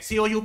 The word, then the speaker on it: coup: C O U P लिखते हैं but P को generally pronounce नहीं करते, so coup पढ़ते हैं.